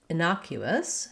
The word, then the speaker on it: innocuous: so firstly our request innocuous has second syllable stress that means that the n o the na syllable is stressed and that letter o says the vowel ah so